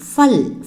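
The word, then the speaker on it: फल: Actually இது பல் கிடையாது, ஃபல். ஃபா ஃபா ப்ரொனவுன்சியேஷன், அதாவது ஃபா. ஓகேங்களா? ஃபா ஃபா ஃபா இல் ஃபல், ஃபா இல் ஃபல்.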